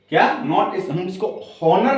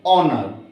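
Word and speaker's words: honour: resign resign इसमें ओनर नहीं पढ़ेंगे इसको बोले ऑनर अवर क्या पढ़ेंगे ओनर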